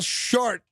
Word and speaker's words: Schardt: Paul Short. Oh, come on. Come on. I'm not making this up. That's funny in numerous ways. It rhymes with Paul Blart.